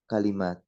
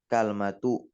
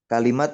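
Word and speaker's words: كلمة: di sini ada kata kalimat Bukan datang dalam bentuk apa kalmatu atau kilmatu bukan tetapi di situ kafnya Di Fathah lamnya di kasrah mimnya Diah nah terkait tanya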